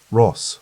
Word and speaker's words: Ross: Ross, said, using the pronunciation that rhymed with boss rather than loss, a distinction the family had always maintained.